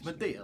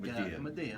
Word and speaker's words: Madia: It's Madia, like Madia. like Okay. the movies, the Tyler Perry movies.